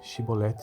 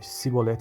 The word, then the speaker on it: chibolete: respondesse que não diziam Então diga chibolete se ele dissesse a sibolete sem conseguir pronunciar corretamente a palavra prendi o noio